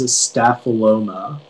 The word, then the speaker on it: staphyloma: 138 all right okay uh your word is staphyloma can you repeat the word the word is